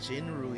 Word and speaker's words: 景睿: It's Jinrui, yeah?